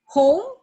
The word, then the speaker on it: home: Home, we also omit silent letter E.